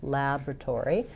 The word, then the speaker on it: laboratory: for North American English, we have first syllable stress. So that means that we have a clear a vowel in the first syllable, laboratory. That's the same vowel that we have in words like black and cat. So you could think about cat laboratory to match that vowel.